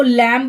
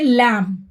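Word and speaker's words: lamb: फिर तंगी ठीक है इसको पढ़ते लैंप इसको लैंब नहीं पढेंगे लैंप लैंप का मतलब होता है मैं ना देखिए यहां पर भी के बाद जो है बी है तो वह साइलेंट है यहां पर भी हम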